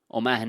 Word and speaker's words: Mahoney: new welcome on board oman is how you say it the main of the lamb and the honey of the bee somebody said that to